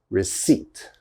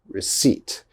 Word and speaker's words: receipt: it receipt receipt now one of these letters definitely i'm not pronouncing receipt receipt i hope you can't hear this p because i am not saying the p all right that p is silent okay we do not pronounce the p so it's receipt receipt